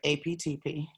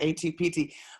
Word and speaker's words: APTP: Well, I'm only going to answer your question if you say it right. APTP. What did I say? Yeah, you said ATPT.